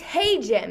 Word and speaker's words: Hajim: I said to the kids now, lifelong, you're going to have to pronounce my name correctly, which I struggle with. You know, I don't get, you may have gotten it right, but very few of them get it right. It's Hey Jim, is that right?